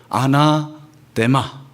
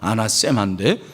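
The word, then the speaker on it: ἀνάθεμα: 이 저주라는 단어는 헬라어로 아나데마, 이 데라는 것이 뭐 세 이렇게 발음해도 되고 아나데마, 아나세마인데 그냥 아나데마로 한번 합시다. 우리 한번 다 같이 아나데마.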